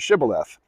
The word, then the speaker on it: shibboleth: water say the word shibboleth because you know once once One Tribe pronounced the the th at the end and another didn't and the people who didn't pronounce it the right way got killed and the